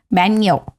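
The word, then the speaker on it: bagno: In Italy, it इज़ बैनियो। बैनियो और डब्ल्यूसी बट इट is retain with a जी बैगनो it's pronounced as बैनियो which I have learned from Google।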